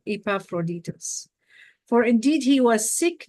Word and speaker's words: Epaphroditus: over here I can't even say his name epaphroditus oh I said it right epaphroditus for indeed he was sick nigh unto death